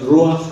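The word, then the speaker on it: רוח: Entonces, en el hebreo para espíritu es el ruach, R-U-A-C-H, perdón. R-U-A-C-H. Es en hebreo ruach, y lo pronuncia ruach.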